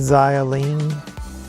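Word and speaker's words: Xialing: a figure is that zio lean that's how you pronounce that kind of reminds me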